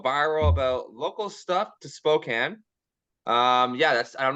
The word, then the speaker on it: Spokane: kernet all the way from what is that Spokane Washington how do you pronounce that I should ask you that first